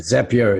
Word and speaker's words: Zapier: to you don't you love the zapier is rhymes with happier I like that Oh